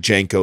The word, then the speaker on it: Janko: Chris Williamson and George, I think Janko is how you say his last name. Is that right, Andrew? Is it Janko? Is that how I say it?